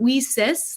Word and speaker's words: WiCyS: we spell that w-i-c-y-s we pronounce it we cis like we sisters because we are a